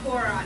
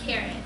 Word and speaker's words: Cora: Actually, it's pronounced Cora, not Carrot.